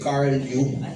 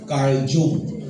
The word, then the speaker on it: Carl Jung: Ang naka-discover po nito, si Carl Jung. C-A-R-L, tapos yung Jung niya, J-U-N-G. Carl Jung. Pero it is spelled as, pronounced as Carl Jung.